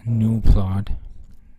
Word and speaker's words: gnuplot: of GNU plot because on the internet you'll find that this is pronounced as new thought but it doesn't make